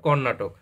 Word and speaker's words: কর্নাটক: জিতেছে পশ্চিমবঙ্গ কেরালা না এটা কর্নাটক উচ্চারণ হবে কর্নাটক তা এখানে আমাদের সঠিক